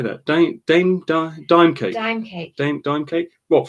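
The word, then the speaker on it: Daim: Dime cake.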